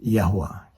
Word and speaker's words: Yahweh: was combined with the name of the father pronounced yahwa the combination was done in such a way